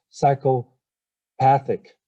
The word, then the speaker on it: psychopathic: on the second syllable whereas psychopathic psychopathic is on the third syllable okay next word is